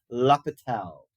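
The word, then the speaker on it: L'Hôpital: called indeterminant forms and you pronounce this guy's name laal lael's rule um okay so take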